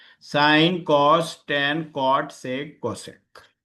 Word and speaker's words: sine: Pronunciation साइन ही करेंगे, सिन नहीं बोलेंगे।